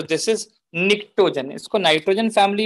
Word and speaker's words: pnictogen: जल्दी जल्दी बच्चों, इसका नाम निक्टोजन क्यों पड़ा है? सो निक्टोजन का स्पेलिंग अगर आप देखें तो PNICTOGEN से है, निक्टोजन।